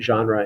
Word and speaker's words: genre: term to go over genre it's pronounced that way that's sort of a it comes from french so we pronounce it genre in english which is almost the way the french say it um it's related to